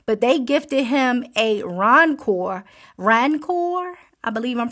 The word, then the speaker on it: Rancor: But they gifted him a Rancor. I believe I'm pronouncing it right. A Rancor.